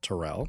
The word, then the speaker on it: Terrell: And, my name is pronounced Terrell, so there we have it.